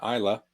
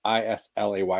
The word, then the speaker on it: Islay: to the if you know where isla is you probably don't know it's like it's spelled i-s-l-a-y like islay if you don't speak